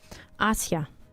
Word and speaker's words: Asia: Asia. Asia. Usually in Russia we say Asia, but you know English everything else Asia.